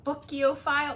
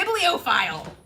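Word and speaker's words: bibliophile: with all of the what are the booko file booko file how do you say that people who like to read booko file book there's audio files and then there's am I making that now biblo file okay we're getting the map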